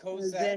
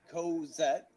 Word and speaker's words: Cosette: Co, as in co-worker, Okay. and vet. All right, As Cosette. in, All right, let me thank you. let me address you properly then. Cosette.